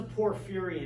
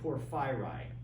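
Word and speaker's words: Porphyry: mind we have non-reductive this is a poor fury and tree from the philosopher poor phyri okay you notice how i break it down if you took your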